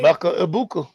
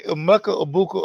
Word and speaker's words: Emeka Egbuka: Mecca Ibuka. Yeah. Yeah, Mecca Ibuka. Who got him? Everybody can't stop raving about. Mike, listen. if you say Emeka Egbuka around Mike Evans, you think it's Mike Evans' son.